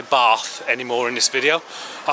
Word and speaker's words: Bath: foreign folks I'm going to be pronouncing the name of the place I'm in today wrong because where I am bath I find it very difficult to say that because I'm from the Midlands and we don't speak Posh we say bath so excuse me if